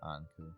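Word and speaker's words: Ankou: I think the proper pronunciation is Anku.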